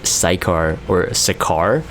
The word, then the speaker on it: Sicar: things first is dagus dagger cycar that's how people are pronouncing it i always said a site car so you might hear